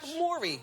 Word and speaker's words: Mowry: cause I say now you spell it like the Bowery like the Bowery bar oh yeah it's like Maury Povich like Mori yeah I can't get